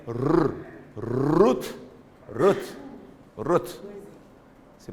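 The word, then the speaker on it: רות: Então aqui é rut rut rut se pronúncia se pronuncia o t no final rot t porque essa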